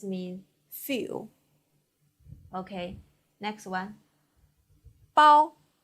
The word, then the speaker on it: 包: 包波 ao with first tongue, 凹波 ao 包波 ao 包 Please repeat.